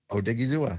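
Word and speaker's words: Odighizuwa: And Osa Odigizuwa. Odigizuwa.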